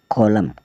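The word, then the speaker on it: column: है कौन से वह शब्द है जिसमें यह साइलेंट रहेगा सी ओ एल यू एम एन कॉलम कॉलम मतलब स्तंभ डी ए एम एन डेम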